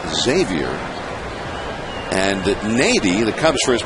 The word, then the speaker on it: Xavier: By the way, he apparently says his first name Xavier, and Nady, the Cubs first baseman, pronounces his first name Xavier.